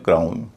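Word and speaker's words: crown: जैसे बी आर ओ डब्ल्यू एन ब्राउन टी ओ डब्ल्यू एन टाउन सी आर ओ डब्ल्यू एन क्राउन एफ एल ओ डब्ल्यू ई R flower T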